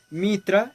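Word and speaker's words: Mithra: la india y por mitra es decir por los iraníes o como en su tiempo se llamaban los iraníes esto porque la t h se pronuncia como en inglés que significa el sol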